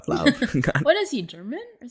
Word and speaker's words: Lauv: How do you pronounce love? And I'm like, maybe love or love. And we actually researched it, and it's We watch an Lauv. interview. My name is Lauv. Lauv.